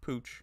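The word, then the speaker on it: Pouch: weren't in pucco yes that is actually pronounced Pooch here in Newfoundland uh was being carried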